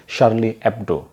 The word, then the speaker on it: Charlie Hebdo: ساتھ، چارلی ہیبڈو یا فرانسیسی میں اس کا تلفظ SYARLI EBDO نومبر 1970 ہے۔ سرورق کے پہلے ایڈیشن کی